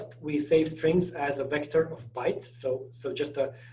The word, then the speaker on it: Vec: So you can see here, contiguous, global array type, written vec-t, but pronounced vector.